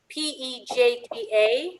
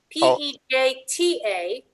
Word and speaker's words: Pejta: The last name was Pejta, P-E-J-T-A, if I'm pronouncing it right. P-E-J-A? T-A, P-E-J-T-A.